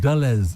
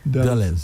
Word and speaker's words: Dulles: I'm pronouncing it correctly. Really? White. White. Oh my word. Yeah. They arrived at Dulles International Airport. At where? Dulles. Dulles.